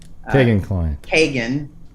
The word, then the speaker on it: Kegan: yeah i was saying keegan too but i i keep hearing it pronounced kagan by like people that know him you know so i